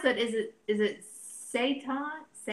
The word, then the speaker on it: seitan: do you pronounce that is it is it say time Amanda said with the kind of protein I am seitan okay okay Tracy says my daughter says hi